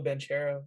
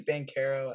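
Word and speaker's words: Banchero: fine yeah i think with paolo benchera or i think his bankera actually i've been pronouncing it wrong um but i think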